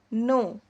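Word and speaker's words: know: तो नो के एन ओ डब्ल्यू नो इसको क्या पढ़ना है? नो के जो होता है वह साइलेंट है।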